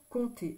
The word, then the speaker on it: compte: quand on dit qu'on compte sur quelqu'un ça veut dire on fait confiance à quelqu'un donc je compte ici c'est P T e on n'entend pas le P donc je compte on